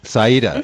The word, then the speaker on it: Sereda: Yeah, the producer's name is, I'm not sure if I can pronounce this correctly. It's Sereda Medvedeva? Yes, it's Sereda. Sereda, okay.